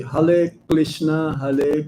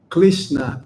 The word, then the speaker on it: Krishna: Um in China they don't have the R letter. So they will say hrishna hrishna krishna krishna h.